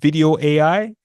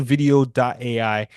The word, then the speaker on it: Vidyo.ai: Now, the other tool that you can use is a tool called Video AI. It's spelled VIDYO.ai.